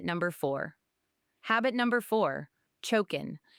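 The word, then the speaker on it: 貯金: Habit number four, choken. It's pronounced choken.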